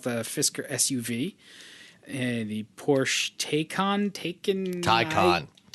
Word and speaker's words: Taycan: Fisker SUV, the Porsche Taycan. No, Taycan's the thing you buy in the store. Taycan. It's only two syllables, Dan.